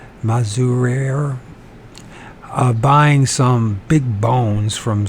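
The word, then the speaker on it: Mazurier: Maruz Mazurere. I didn't pronounce that. Mazurere, like barrier, Mazurere, buying some big bones from some workmen and hawking up his giant.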